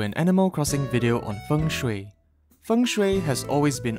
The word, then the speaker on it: Feng Shui: Well, Feng Shui is actually pronounced Feng Shui, which is written with the Chinese characters for wind and water.